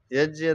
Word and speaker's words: यज्ञ: कि इन कर्मों का यज्ञ हो गया जिसको यज्ञ भी सही उच्चारण यज है वैसे यज्ञ बोल सकते हैं इसको यज भी बोल देते तो यज्य दान और तप रूप कर्मों का त्याग नहीं करना चाहिए।